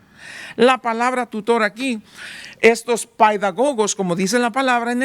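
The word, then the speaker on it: παιδαγωγός: se ponían bajo un paidagogo. Así es la palabra, como se pronuncia en el griego.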